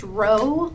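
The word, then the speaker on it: ρ: by that P now the p is pronounced row like r o w essentially but that is um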